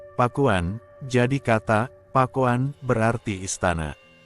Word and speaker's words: Pakuan: tersebut Ia menjelaskan bahwa kata pakuan mestinya berasal dari bahasa kawih yaitu Pak Won yang kemudian dieja pakuan dalam lidah orang Sunda kata itu akan diucapkan pakuan jadi kata pakuan berarti